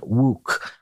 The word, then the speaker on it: Wouk: in 1959, This Is My God by Herman Wouk. I think I'm pronouncing his last name correctly, but send in letters.